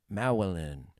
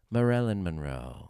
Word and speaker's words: Marilyn: one of the SC say her name again maelin there's an r in there meln Monroe there you go meln Monroe